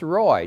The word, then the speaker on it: Roae: then I say well it's pronounced Roy just like it's spelled r-o-a-e yeah but yeah I